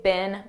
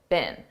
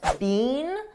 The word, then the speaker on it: been: a very unstressed B this is how we pronounce the past participle of the verb be bin in American English I don't speak British English but I believe in British English they pronounce it more stressed Bean but in American English we don't do that we just say been been they've been they've